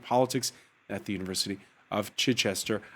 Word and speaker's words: Chichester: at the university of chichester i always wonder if i'm mispronouncing chichester is that how you say it yeah you got it i do got it